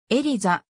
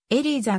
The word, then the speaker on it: Elisa: 知られているエリザエリーザと発音されることもある彼女は主に